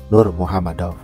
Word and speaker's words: Nurmagomedov: Secara pelafalan, sebenarnya Khabib pernah mencontohkan bahwa penyebutan namanya sendiri adalah Khabib Abdulmanafovic Nurmuhamadov. Namun karena kita sering mendengarnya bahkan dari Bruce Buffer sekalipun ketika nama Khabib ini diumumkan yaitu Khabib Nurmagomedov, maka kita terbiasa menyebutnya dengan ejaan seperti itu.